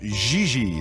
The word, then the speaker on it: JJ: mean jj gg jj on francais you pronounce g like j and j like g she may very well be jj in america but in france she is gigi how well does she